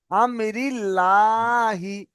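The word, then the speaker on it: أمر الله: হ্যাঁ আগে জের আছে, এটাই, ওটা লা হবে, ল হবে না, বুঝতে পেরেছেন? আমরিল্লাহি, বুঝতে পেরেছেন?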